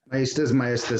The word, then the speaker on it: Maestas: Maestas, same thing, Judge.